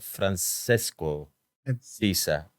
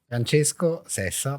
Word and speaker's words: Francesco Sessa: I'm telling the name in the right way because when I read it before I called you, I was reading it Francisco Sisa. The Italian pronunciation is Francesco Sessa, but it's okay.